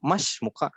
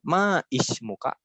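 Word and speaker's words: ما اسمك: Jadi ketika kita bertanya nama itu mas muka. Loh kenapa bukan ma is muka? Karena hamzah wasol.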